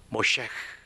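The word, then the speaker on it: משה: 모셰. 히브리 말로 그렇게 발음합니다. 그것은 물에서 건졌다. 여러분 놀랍지 않습니까? 파라오의 딸 공주가 이집트 강에서 건진 모셰흐가 그 민족을 홍해 바다에서 건지는 인물이 되는 거예요.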